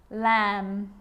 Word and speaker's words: lamb: with the letter B it's always silent when it follows the letter M climb Krum lamb thumb dumb and plumber so practice them with me I'm not pronouncing the B I'm just pronouncing the M consonant sound climb Krum lam some